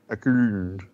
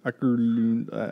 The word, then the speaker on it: Åkerlund: Åkerlund. Åkerlund. Which is... How do you pronounce the A with the little circle over top?